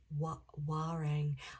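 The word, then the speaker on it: Warrane: I think it's W A R R A N E but it's pronounced Wang.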